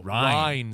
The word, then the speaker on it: Ryne: I'm like, Ryan Sandberg. They're like, no, Ryne Sandberg. Ryne. But as a little boy, I was like, is it Ryan?